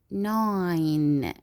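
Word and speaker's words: nine: And the last one 9. 9. Also here we will not pronounce E letter.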